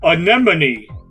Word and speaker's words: anemone: enemy anemone yes and please note that it's pronounced anemone remember that chat anemone those colorful sea creatures with the tentacles right many anonymity sees